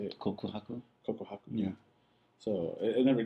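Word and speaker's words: 告白: Kokohaku.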